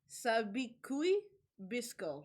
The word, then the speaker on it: Sabikui Bisco: Okay, so it's like Sabikui Bisco.